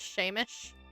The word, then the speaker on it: Seamus: It's pronounced Shamish.